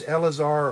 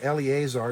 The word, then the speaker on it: Eleazar: those three mighty men was elazar or eleazar depending on how you pronounce e-l-e-a-z-a-r the son of dodo